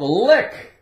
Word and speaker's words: lick: How about lick? L-I-C-K. The C is silent, of course.